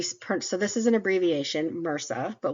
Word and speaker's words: MRSA: this is an abbreviation Mera but we pronounce it as one word and you'll see that